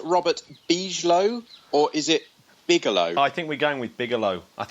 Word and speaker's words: Bigelow: Now, is it pronounced Robert Beaslo or is it Bigalow? I think we're going with Bigalow. I think we're going with Bigalow.